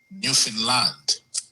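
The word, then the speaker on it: Newfoundland: congregation which is in Newound land or as the locals say Newf Finland.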